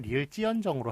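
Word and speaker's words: ㄹ지언정: 발음은 리을 찌언정으로 하지만 리을 지언정이라고 그렇게 써주셔야 되고요.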